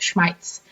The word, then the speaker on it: Schmitz: it would be funny I'd pronounce it Schmitz because that is how it's said in German yeah Ellen you need